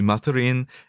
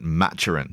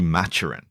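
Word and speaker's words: Maturin: there are like in Spanish it would be matarin in French it would be mat but uh the the author and the BBC adaptations pronounce it matchin so Aubrey matchin yeah well I think that makes sense though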